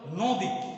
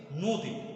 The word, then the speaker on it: নদী: লিখিত রূপ আছে অ, অর্থাৎ এটা উচ্চারণ হওয়ার কথা ছিল নদী, কিন্তু প্রকৃতপক্ষে এখানে দীর্ঘ ই থাকার পরে কারণে অ এর পরে দীর্ঘ ই থাকার কারণে আমরা এখানে উচ্চারণ করছি নদী, এই শব্দটা প্রমিত উচ্চারণ হবে নদী।